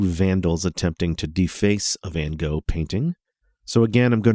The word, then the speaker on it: Van Gogh: First of all, I know the artist's name gets different pronunciations in different countries, so where I'm from, I've always heard it as Van Gogh. It's Van Gogh, something like that in some other places.